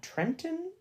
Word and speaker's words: Trenton: So in this scene, in chapter 13, not the TV show, he finds a Trenton. Sorry, I think you don't pronounce the T in that.